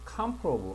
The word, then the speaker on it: comparable: 자, 3번을 보면, 요것도 보면 강세가 comparable 앞에 있습니다.